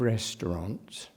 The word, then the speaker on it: restaurant: and make our visit the pronunciation I want to draw your attention to is the sounded T at the end of restaurants the Oxford English Dictionary in its first edition gave you two permissible pronunciations the not only the correct decor second addition gives you three the key question is whether to sound the T at the end or not Eliot sounds the T in a way which